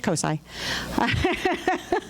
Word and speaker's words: COSI: It's COSI.